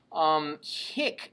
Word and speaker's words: hic: So one has a short I and the other has a long I. So make sure your ear keeps those two straight.